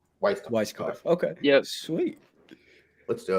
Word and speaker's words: Weiskopf: out there and the viewers out there it's weisskoff okay yeah sweet let's do it we're so